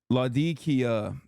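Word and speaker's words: Latakia: am not all right okay ladia that's how you pronounce latia area in Syria it's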